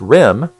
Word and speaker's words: rem: in what's called REM REM pronounced rim stands for radiation effect